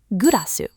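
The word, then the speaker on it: グラス: From English, much later, gurasu, the glass you drink from.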